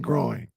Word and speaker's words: groin: the first one Ste say all three of those words loin coin groin hey you did it